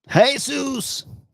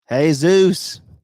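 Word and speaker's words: Jesús: what would you say Jesus with a soft G that would be a j yeah it would be a j I'm silly hey Zeus it's Jesus hey Zeus make sure you're the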